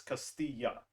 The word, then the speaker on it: Castilla: seasons like is it Castilla no it's Castilla the two L's are pronounced as a y okay just to clarify